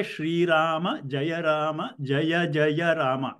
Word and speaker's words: Rama: So, and because in the north, if when they write it as Rama, they pronounce it as Ram, right?